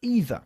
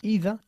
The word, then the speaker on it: either: Y hay dos pronunciaciones aceptables. Either o either. Realmente da igual cuál de las dos utilices. Yo, por ejemplo, en mi caso, utilizo las dos a menudo.